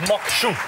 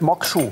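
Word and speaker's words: maque choux: Aha, wird korrekt Mokshu. Genau, wird nicht Mokshu. Französisch ausgesprochen.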